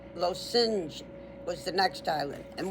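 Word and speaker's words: Lošinj: L O and then like sin, like you committed a sin. S I N J. Lo sing. Lo sing was the next island.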